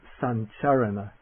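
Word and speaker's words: sañcaraṇa: But this palatal nasal also sometimes precedes a palatal consonant like the ch or j, and then one doesn't try to pronounce it with that wiggle sound in it, but it comes out sounding just like an ordinary N.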